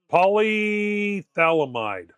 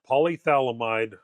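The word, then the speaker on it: polyphthalamide: Polythalamide. Polythalamide, I think, is how it's pronounced.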